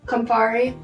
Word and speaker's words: Campari: The biggest flavor that you're tasting in here, though, is Campari. How do you pronounce that? Campari.